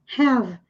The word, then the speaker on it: have: Mas aqui termina com E, então nós não pronunciamos. Have.